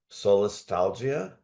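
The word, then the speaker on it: solastalgia: echo stress, echo distress, and I hope I pronounced this right, solstalgia. Mhm. First of all, what does that last one mean? Did I say it? Yeah. Yeah, you did. Um, so soulstalgia was coined um I don't know 20 or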